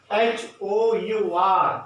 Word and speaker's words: hour: So H-O-U-R, you have to understand that hour. So here H is silent, we will not use hour, we will use as hour, okay.